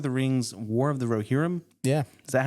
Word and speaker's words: Rohirrim: But anyways, this week we're going to be talking about Lord of the Rings, War of the Rohirrim. Yeah. Is that how it's pronounced?